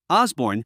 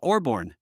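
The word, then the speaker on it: Osbourne: Osborne, he had said, not Orborn.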